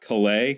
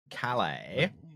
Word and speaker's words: Calais: like it's not so it's not clay how do you say it Kelly I mean Calais oh my God yes